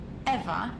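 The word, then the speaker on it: Ewa: Besides, Eva is spelled E W A, not E V.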